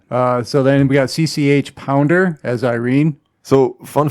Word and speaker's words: CCH: again, to the commentary, she claims that it's not CCH. It's actually just CC. And CC? And this H is silent.